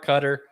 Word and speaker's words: Qatar: yes because in november because it's in qatar cutter um and it's the temperatures summertime are 120 to 125.